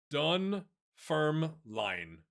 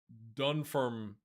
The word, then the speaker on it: Dunfermline: Dunfermline. Dunfermline.